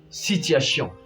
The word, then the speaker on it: situation: On écrit situation plutôt, mais on va lire situation. L'avant-dernière syllabe va s'accentuer. N'oubliez surtout pas de garder ça en tête. La toute dernière syllabe va plus s'accentuer. Et aussi, nous allons lire le sion comme Sean. Situation.